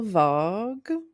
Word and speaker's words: Vague: Moon, Beonia, Marty Supreme, No Other Choice, Novel Vogue. Yep. Nailed it. Okay. And one battle after another. Shout out Richard Linkl. Two movies. Is it vague? Vog.